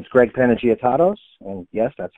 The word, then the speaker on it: Panagiotatos: more about me um my name is Greg panagot and yes that's how I pronounce it I've been with Lexus Nexus since